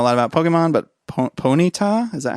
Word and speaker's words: Ponyta: I don't know a lot about Pokemon, but Ponyta?